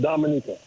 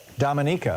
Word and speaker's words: Dominica: right but it's no no the natives they pronounce it Dominica Dominica oh okay thank you very much I didn't